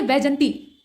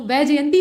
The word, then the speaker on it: वैजयंती: हैं इसके बाद है वजती अब ये वजती जो है इसको कैसे शुद्ध करेंगे तो वैजयंती होता है ठीक है यहां य